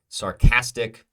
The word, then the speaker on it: sarcastic: Sarcastic, the cat is stressed, sarcastic.